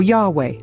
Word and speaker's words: Yahweh: You can pronounce it as Jehovah or Yahweh among a few other variations.